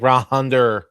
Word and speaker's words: Ranger: Say his name right. It's like Rahander. Whatever, Ranger.